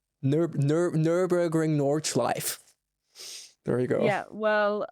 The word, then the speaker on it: Nordschleife: Nürburgring, Nordschleife. It's not that hard. No. Just remember the E at the end. Same with Porsche, Nordschleife.